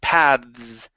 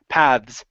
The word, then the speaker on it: paths: is going to be instead of paths it's path paths so it's a vo th and a a voiced s paths paths there you go